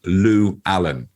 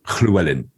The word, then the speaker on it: Llewellyn: but uh it's a my grandparents three of my grandparents were welsh and they would pronounce it correctly as a welsh person and the nearest i can get is clewellin so it's a it's a soft the first two l's are soft but the second two